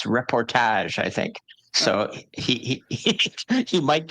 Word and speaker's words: reportage: I think it's reportage.